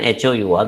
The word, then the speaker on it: hour: is an so an hour because the initial h is not sounded it is silent h is silent here